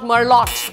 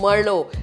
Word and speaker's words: Merlot: guys it's not Merlot it's Merlot here are 10 most commonly